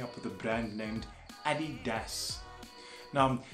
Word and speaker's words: adidas: with a brand named Eddie does now the other pronunciation that I have heard is adidas now adidas would make sense if the guy's name was a dealer but that's not the